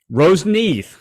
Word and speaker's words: Roseneath: again because I didn't ask you how to pronounce the band name Rose Neath okay all right so I'll just edit that